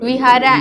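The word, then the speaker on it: vihāra: The east, the V also they pronounce as B. Yeah. Okay, the Vihara and Bihara.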